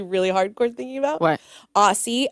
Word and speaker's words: Ossi: Aussie, OSSI, because it rhymes with Stassi.